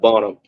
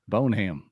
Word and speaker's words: Bonham: that's that's how it looks but yeah it's pronounced bonam bonam that's right it's north of Dallas right like